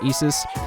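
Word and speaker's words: Isis: a whole new persona which is isus and that's actually how you're supposed to pronounce it I'm pretty sure cuz it's the mythological isus this thing's pretty cool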